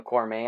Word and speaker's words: Cormier: I think I butchered his name the last time, but it's Daniel Cormier.